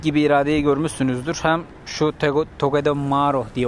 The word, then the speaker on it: Togedemaru: Hem şu Togedemaru diye okunuyordu herhalde.